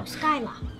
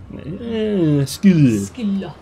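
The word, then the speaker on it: Scylla: Skylar. Skilla.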